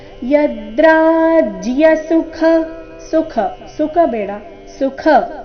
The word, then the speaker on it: ಯದ್ರಾಜ್ಯ: ಉಚ್ಚಾರಣೆ ನಾಸಿಕವ ಕರ್ತೋ ವ್ಯವಸ್ಥಿತಾವಯಂ ಯದ್ರಾಜ್ಯ ಸುಖಲೋಭೇನ ಯದ್ರಾಜ್ಯ ಯದ್ರ ರಾಜ್ಯ ಯದ್ರಾಜ ಇಲ್ಲ ಇಲ್ಲಿ ಜ ಅಧಿಕ ಯ ಸಂಯುಕ್ತಾಕ್ಷರ ಯದ್ರಾಜ್ಯ ಸುಖ ಸುಖ ಸುಖ ಬೇಡ